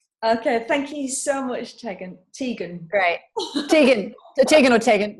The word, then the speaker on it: Tegan: So Tegan is Tegan. Tegan, it's actually Welsh. So if someone says Tegan, I'm in trouble. It's like, oops, but that's the correct way to say it.